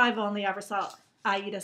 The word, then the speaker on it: Aida: So, remember how I was telling you I bought this cloth, and it's called Ada cloth, and I like it better than linen? Yeah. It's actually pronounced Aida, like the opera.